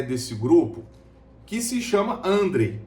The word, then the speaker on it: André: grupo, que se chama André. Eu creio que seja André a pronúncia, porque não tem acento, tá? Não é André, tá? Não tem acento no E.